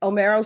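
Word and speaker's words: Homero: Or do I pronounce the H? No, you said it right. All right. Omero.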